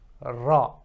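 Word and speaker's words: ر: English and that is RA the only difference is that you have to roll it a bit more so it's not like the gentle R in English it's a bit more roll ra so as if you're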